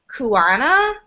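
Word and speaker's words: Cuyana: out of san francisco i believe it's pronounced kuana i think that's pronounced it's spelled c-u-y-a-n-a they're on instagram they're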